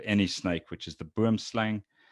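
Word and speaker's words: boomslang: snake which is the boom slang boom slung is the right way to say it not boom slang as most people say it's burmslung it's an afrikaans word but that produces a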